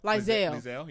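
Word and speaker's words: Liesl: Lizelle, yeah. Yeah, which I like her name because it's spelled kind of interestingly.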